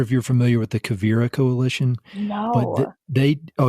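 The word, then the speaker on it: Quivira: I'm not sure if you're familiar with the Cavira Coalition. No, but they Oh, you need to look them up. They do. How do you spell that? Q U I V I R A Kira Coalition and it mostly in the western US.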